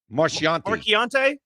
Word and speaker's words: Marchiante: How do you say Mary's last name? I don't want to get it wrong. Marchiante. Marchiante.